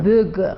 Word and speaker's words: Boeger: Qual é a pronúncia correta do Eva sobrenome? Böger.